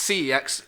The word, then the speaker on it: CeX: So I looked CEX, or I think it's pronounced sex, actually, if you're European and you're a stickler. But it's CEX in the UK, isn't it?